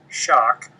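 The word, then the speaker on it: Schoch: my website my personal website is www Robert shock and my last name is spelled s h o c so it's r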